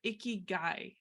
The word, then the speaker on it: ikigai: types of conversations related to this but your icky guy did I say it right yeah and not